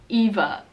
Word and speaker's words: Eva: other good friend here the V is pronounced like a F slightly like Ava Ava with an A is really common in the u.s. right now for teen girls and then Eva oh wait I said